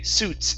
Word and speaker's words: suits: Okay, the I is silent. We only say suits if it suits you.